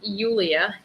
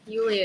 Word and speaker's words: Yulia: Yulia. Yulia is my name. It's Yulia. Yulia is my name. Like Julia, but with a Y.